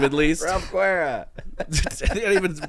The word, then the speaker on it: Guerra: How do you pronounce it? Guerra. Yeah, I can't do that. Or That's else pretty I'm- cool. Yeah. Guerra. You say it. Guerra.